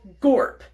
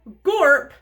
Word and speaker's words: gorp: to make something called gorp and if you don't know what girp is just wait we're going to tell you so gorp is spelled just the way it sounds g-o-r-p and it stands